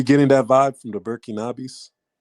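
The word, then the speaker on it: Burkinabè: How do you say the names? Is it Burkinos? Um, they normally term it burkinabis. Burkinabis. That's what it was.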